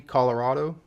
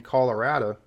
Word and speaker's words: Colorado: of people I think pronounce this properly Colorado, but you do get a decent number of country folk out there saying Colorado, but I think the pronunciation closer to Spanish is the correct one here.